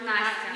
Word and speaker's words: Anastasia: For English speakers, in Russian it's Anastasia Anastasia. Okay. or Nastya.